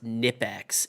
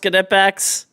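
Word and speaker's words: Knipex: And he's like, he's like, it's pronounced Nipex and they're not plier wrenches, they're channel locks. And I'm like, I literally went on the Kipex listing, showed exactly what it's called, and then pulled up how to pronounce it exactly. It's pronounced Kepex and they are plier wrenches.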